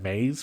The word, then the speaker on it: maize: Maize flour? It's not matzah, it's maize flour and water, cooked into a thick dough-like consistency.